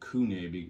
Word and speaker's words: CVNE: company just call them Kune but it's actually not a u it's a v but they messed up